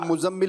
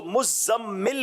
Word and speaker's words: مزمل: لوگ مزمل بولتے ہیں، اس کو مزمل پڑھیں گے کیونکہ تشدید ہے، تو اس کو پڑھنے